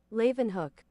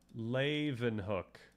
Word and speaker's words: Leeuwenhoek: Pronunciation. Leeuwenhoek. Oh, that's so easy. Leeuwenhoek. I did this for the other one. Leeuwenhoek.